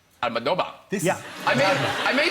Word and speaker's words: Almodóvar: So anyway, if you want to pronounce it like if you were Spanish so long, then it is Pedro. Yes, you said that. Pedro. Pedro. Yes. Almadoba. Almadoba.